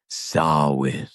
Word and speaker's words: Samhain: Sawin. You said it right. I always What? Sawin. Sin. Sin. I don't know what they were saying, but I know. Well, it's spelled Sam Hayne.